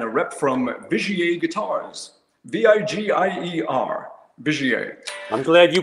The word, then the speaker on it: Vigier: So I was doing a tour in France, and a rep from Vigier Guitars, V-I-G-I-E-R, Vigier. I'm glad you pronounced it, not me.